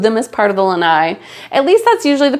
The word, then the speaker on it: lanai: Namely, we love our lanais. Now, I've heard lots of questions about how to say it, and the word is pronounced lanai.